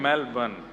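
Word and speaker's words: Melbourne: को जला दे मेलबर्न मैंने कहा नहीं मेलबर्न र जो है वो साइलेंट बोलो तो लेकिन हुआ क्या यहां आके इससे बढ़िया तो भारत में ही थे।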